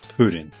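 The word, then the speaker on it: プリン: Jigglypuff in Japanese is purin, pronounced pudding.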